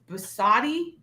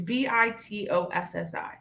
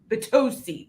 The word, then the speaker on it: Bitossi: Basati? It's Bitossi. I know Sarah had it. Vitosi. Say it again. Vitosi. Bitossi.